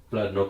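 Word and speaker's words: Bladnoch: drain all right guys here i've got here blood knock i'll help hop up pronounce it correctly so this is called bladlock samsara this one here i think this is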